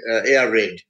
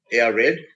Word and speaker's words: air raid: ah yes yes okay in in compound words so when words are are formed or made up of two two nouns like let's say air raid air raid the first element is accented so airway there are